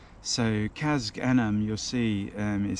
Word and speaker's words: Casg Annamh: well known Distillery and it is the abalawa kazak Anam so Kaz anim you'll see is spelled with c-a-s-g-a-n-a-m-h and that's actually Gaelic for